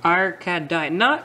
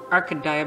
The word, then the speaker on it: Arcadia: Arcadia. I think I've pronounced it Arcadia before, but actually I think it's Arcadia.